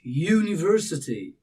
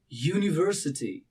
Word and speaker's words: university: the phonics sound the very beginning of the pronunciation and it's not you you but it's university university university you have some starting somewhat like you